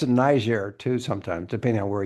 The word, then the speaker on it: Niger: the data that showed that trend was in Niger.